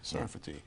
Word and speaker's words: Sarfati: of the book and am I pronouncing your name properly is a safari safety sarfati sarfati in Hebrews sarfatis France all